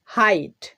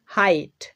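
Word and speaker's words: height: আই এর উচ্চারণ পাচ্ছি আই এর মত হাইট তো এখানেও দেখো আই এর পরে জি এইচ রয়েছে এখানে কিন্তু জি এইচ সাইলেন্ট হয়ে গেছে হাইট নেক্সট আইদার আইদার এখানেও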